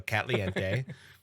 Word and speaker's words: Catliente: Made by, and I want to pronounce it as Catliente, like Caliente, but with cat and a few extra e's. So Catliente.